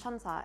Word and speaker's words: 천사: In Korean, it's pronounced 천사, and 천사 is angel in Korean.